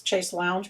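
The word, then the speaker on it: chaise longue: Yeah, What's a chase lounge? It's chase lounge, but that's how you're supposed to pronounce it.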